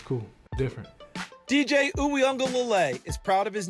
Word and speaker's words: Uiagalelei: My name is DJ Uiagalelei. Uiagalelei. Uianga, yeah, like an N, like Uiagalelei. The Wui is the part that a lot of people, Ui, it's a W kind of, so it's a Wui.